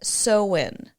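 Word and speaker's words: Samhain: a kelt word and it's spelled s a m ha a i n but you say it seen I know it doesn't you wouldn't think it that's what it would be doesn't sound like Halloween yes so these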